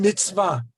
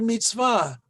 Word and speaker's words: mitzvah: Thus the word mitzvah right here, okay? It's very clear to see how it's pronounced, mitz, and then va.